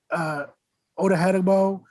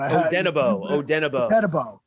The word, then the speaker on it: Odenigbo: You bring in Odehedebo to come in. I think that's how you pronounce it. But Odenigbo. Yes. I reference it how I had to spell it about 100 times.